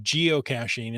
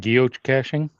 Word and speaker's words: geocaching: anyway it's it's the yes I agree that geocaching is that soft G not the Harga but the ja and um it's not Guild caching geocaching that sounds more Italian yeah